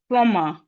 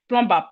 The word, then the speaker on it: plumber: The B in plumber is silent. Please let us always pronounce this word properly. Most of us, average Nigerian will call this plumber. In fact, I've I've heard this a lot. Plumbumber. Plumber. It's not plumber. Please. The proper word is plumber.